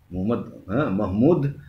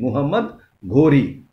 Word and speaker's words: Muhammad Ghori: Muhammad Mahmud Muhammad Ghori, the pronunciation Muhammad Ghori.